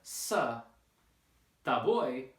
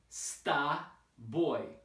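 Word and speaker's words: с тобой: So instead of sa, ta boy, it's sta boy, sta boy, like this, sta boy, with the stress on the last syllable.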